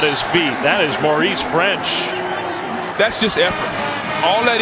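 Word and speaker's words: Ffrench: love to see that he's got an extra F in his last Saints French with two F's maybe fortitude does that still sound the same it does you still pronounce it French making sure you see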